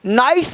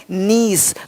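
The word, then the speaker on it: niece: नीस नाइस नहीं नीस।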